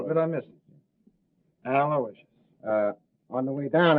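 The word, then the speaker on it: Aloysius: Aloicious.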